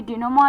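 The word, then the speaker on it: denouement: I repeat D ई एन ओ यू ई एम ई एन टी डिनोमा।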